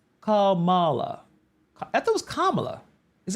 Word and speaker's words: Kamala: pronounce her name because it's Kam it's Kamala Harris right not K it's Kamala right Kamala whatever um so